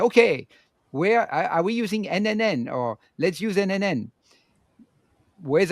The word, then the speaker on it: n8n: And then someone told me, oh no, no, nobody says that. We say NNN, three N's.